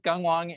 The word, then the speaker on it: Gunghwang: yourself yeah sure so my name is gunghwang and uh caesar remember it's pronounced like gung-ho and so i'm the